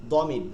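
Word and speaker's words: ضمير: জমির হচ্ছে প্রোনাউন হিয়া দমির শব্দটা হচ্ছে দ থেকে কিন্তু আমরা উচ্চারণ করি জমির জদ জদ উচ্চারণ করি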